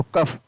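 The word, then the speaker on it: cough: COU को क्या पढ़ा गया, क, और GS को क्या पढ़ा गया, फ, तो कफ।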